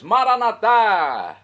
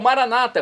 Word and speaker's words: Maranata: aramaico dialeto de Jesus maranat maranat pronúncia católica ou Maranata como dizem nossos irmãos separados os evangélicos ou protestantes não importa a pronúncia o significado é o